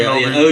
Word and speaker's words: Anunoby: OG, I can't pronounce his name. Anunoby? Yeah, Anunoby.